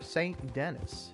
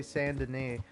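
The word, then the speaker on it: Saint Denis: Strawberry to s or St Dennis if you're an idiot like me I mean I I'll tell you what and and until I heard somebody say Sande I I was pronouncing that area as St Dennis the whole time listen how am I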